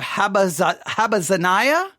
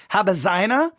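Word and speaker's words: Habazziniah: Jeremiah the son of havasina I should say it correctly habazina and his Brethren and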